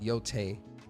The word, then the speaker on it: Yotei: Oh, and it's pronounced Yōtei.